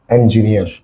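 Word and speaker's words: engineer: যেমন দেখো, ইঞ্জিনিয়ার, ঠিক আছে, ইঞ্জিনিয়ার, এটার উচ্চারণ হচ্ছে ইঞ্জিনিয়ার না, তোমরা ইঞ্জিনিয়ার বলে, এটা সঠিক উচ্চারণ হচ্ছে ইঞ্জিনিয়ার।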